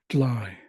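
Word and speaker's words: dely: go is clwa CLA dry again they've removed the r replaced it with an L because it's easier to pronounce here in the Pacific Northwest with indigenous language speakers dly dly the word for what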